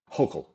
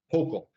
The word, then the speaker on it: Hochul: Or how do you pronounce her name? Hochul. Hochul.